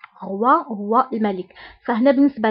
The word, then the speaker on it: roi: بالنسبة ل O I O I كنطقوها ب وا وا. example roi roi هو الملك. فهنا بالنسبة ل 13 كتعني رقم 13، ريدو كيعني ستار، roi كيعني ملك roi.